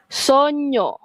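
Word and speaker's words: sogno: GN disebut seperti nya nya. Okey dalam perkataan banyak contohnya. Okey banyak nya kan bunyi nya. Contoh kita tengok yang ni. Sonyo bunyinya sono.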